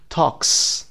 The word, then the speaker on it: talks: talk، talks صدای s مثل snake بدید. talks فقط یه s.